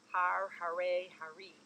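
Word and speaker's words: haree: chant the h-a-r-a-y h-a-r-e-e if you were to pronounce it in our american way of speaking hari but the r changes to a rolled r or d indescribable ecstasy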